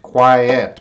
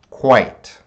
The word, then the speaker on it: quite: be too quiet but this is not quiet this is quite quite how many vowel sounds do how many syllables do you hear quite he does not make a sound right quite there's you see two vowels you see the I in the e but the e doesn't make a sound it's quite